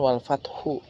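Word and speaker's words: الفتح: Ya, wal fathu ini pada harokat ha dibaca setengah suara, sehingga kita bunyinya menjadi wal fath, wal fath, wal fath, wal fath.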